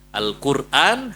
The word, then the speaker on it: Al-Quran: Bukan Quran, tapi Quran. Ya, hamzanya dihilangin. Al-Qur'an, hamzanya dihilangin jadi bacanya Al-Quran.